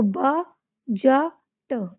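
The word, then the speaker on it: budget: तो इसमें भी डी को साइलेंट करेंगे। इसको ब ज ट बजट है ना?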